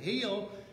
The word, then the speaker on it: Hill: And I said, "No, heel, like you're driving down the road, you're running over hills."